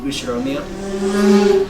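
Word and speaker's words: Ushiromiya: is my family name usheromia that's a fairly plausible japanese pronunciation so far the problem's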